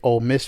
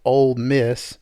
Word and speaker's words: Ole Miss: miss fan and so old miss they roll into knoxville they're playing knoxville you say old miss old no o-l-e i said it wrong already oh oh it's ole miss for sure i just just don't